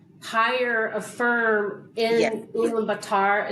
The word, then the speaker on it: Ulaanbaatar: in Ulaanbaatar. Is that how the capital is pronounced? Yeah, So we have, Ulaanbaatar.